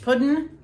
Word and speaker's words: puddin': newspaper or whatever but we call it peach pudding not pronouncing the g but it's not pudding